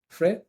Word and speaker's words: Frais: Frey, yeah, as in French.